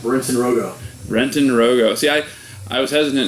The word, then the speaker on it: Roggow: yourself I am we're in San Rogo Brenton Rogo see I I was hesitant to say your